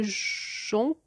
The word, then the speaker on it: jonc: La lumière pourpre est le jonc et le joug. Alors là aussi, je suis allée sur Internet. Alors on ne dit pas jonc, jonc, jong, on dit jon. On ne prononce pas le C.